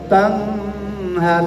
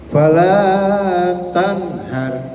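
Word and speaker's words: فلا تنهر: Wa ammasa ila fala tanhar, nun mati ketemu hak izhar, tanhar, jadi nggak boleh didengungkan, disingkat, ya, bacanya. Wa masaila fala tanhar, langsung masuk, nggak boleh tanhar, salah, ya. Yang benar fala tanhar, jadi langsung masuk ha, itu namanya izhar.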